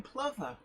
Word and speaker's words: plover: putting me on to the proper pronunciation of lover yeah because you thought it was clover didn't you because that's how that's how it's spelt yes but that's the